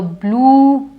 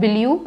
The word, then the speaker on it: blue: to match with her blue now out here I stretch it because it's not Balu it is blue blue pullover again the